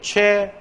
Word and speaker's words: 최고: 그러니까 이건 표준 발음이 어떻게 최고 이것도 가능하고 지금 보면은 우어의 최고도 된다 이런 논리 아닌가 얘기하자면 쭉 그 근거를 내가 단모음과 함께 설명을 한 겁니다.